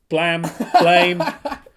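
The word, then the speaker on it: Blame!: Mainly as the creator of Blame, which Blam. is Blame, however you want to pronounce it, which is a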